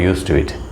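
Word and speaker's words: used to it: ഉച്ചാരണം യൂസ് ടു ഇറ്റ് എന്നാണ്, പക്ഷേ എഴുതുമ്പോൾ യൂസ്ഡ് ടു ഇറ്റ് എന്ന് തന്നെ പറയണം. യൂസ്ഡിൻ്റെ ഡി സൈലൻ്റ് ആയിട്ട് പോകും, കേൾക്കില്ല.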